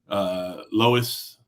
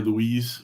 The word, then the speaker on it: Lois: Lois, Irwin. I've been calling her Louise for the whole time she's been subscribed. She jumped in all the lives, whatever. And I know how to pronounce Lois.